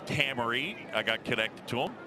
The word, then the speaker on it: Hamari: The reason I have these nuggets on Adam Hammery is because his name is spelled H-A-M-A-R-I.